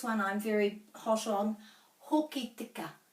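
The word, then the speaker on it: Hokitika: And this one I'm very hot on, Hoki tika. It's not hoka tika.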